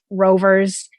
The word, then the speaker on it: RVR: We have little race cars, so many rovers, including Sphero, which has the option to integrate a microbit within their platform, their new rover platform. And that's RVR, but it's pronounced rover.